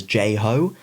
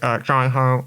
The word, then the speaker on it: Jai Ho: And in their bit, they mispronounced it as J-Ho. And I remember hearing this on the radio at the time thinking, surely someone should have just said something when they were recording that. It's pronounced Jai-Ho, actually. Sorry.